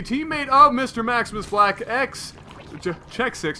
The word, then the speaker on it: xSixMkengyn: Maximus Black, Check 6, not X6, xSixMkengyn. Now that we know how to pronounce his name.